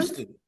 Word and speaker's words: Houston: Is it Huston or Houston? Houston. It's Houston. They pronounce it wrong in Texas.